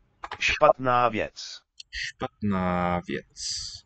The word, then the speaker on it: Špatná: Špatná, hear the long vowel sound at the end.